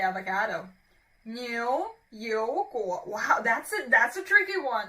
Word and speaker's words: 牛油果: So 牛油果, when you pronounce it, as I've just said, it's like a pouting sound.